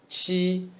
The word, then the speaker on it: 气: Qi is cheese with flat tongue. Cheese, cheese. Drop s, qi.